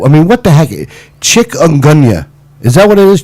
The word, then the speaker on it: chikungunya: you can't pronounce it like one i can't pronounce but two i mean what the heck chikungunya is that what it is chikungunya it's a